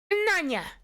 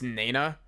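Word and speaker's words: Nayna: Nanya! Oh. Huh? Where's Nanya? I also just realized that it's Nana. I've been pronouncing it incorrectly this entire game.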